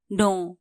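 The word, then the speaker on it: know: teach जानू थहा पु नो के एन O double you नो यहां के साइलेंट हु्छा के एन ओ डबल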